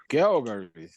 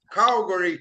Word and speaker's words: Calgary: Calgary. In Calgary, Canada. Yeah. They dare say Calgary. Horrible. What Calgary. Horrible pronunciation.